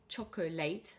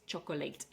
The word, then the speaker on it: chocolate: of you think that chocolate has three syllables, but in fact, it's not pronounced chocolateate. It's pronounced as chocolate with two syllables and the stress is on the first syllable.